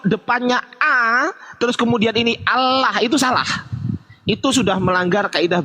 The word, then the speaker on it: Allah: Di sini kata Allah dibaca sebagai tafhim, yang berarti tebal.